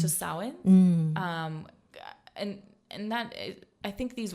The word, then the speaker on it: Samhain: But I think it's just Samhain.